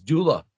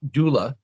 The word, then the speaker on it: Gyula: I went to Budapest that I realized it was Dula. So he didn't want to correct me and tell me, hey, that's not how you say my name. So I learned as Dula.